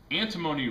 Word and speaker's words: antimony: way to remember antimony antimony rhymes with alimony and if you have